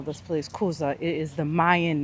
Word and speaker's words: Kuza: So they told us the correct pronunciation is Kuza, and that is where the name Cozumel derived from. So they call this place Kuza.